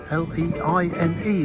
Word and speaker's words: Leine: I guess it's called the River Leine, L-E-I-N-E, Leine, I would say. That's the pronunciation.